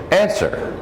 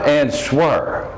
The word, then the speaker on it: answer: it's spelled this way but answer is the pronunciation answer not an swerve and sir do you have an answer for